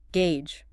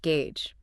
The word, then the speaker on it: gauge: But here here, Lisa says it's just gauge. Rhymes with page or cage.